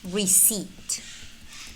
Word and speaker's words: receipt: Here we don't pronounce the letter P nor the letter L. Psalm. Cupboard, cupboard. Raspberry, raspberry. Receipt, receipt.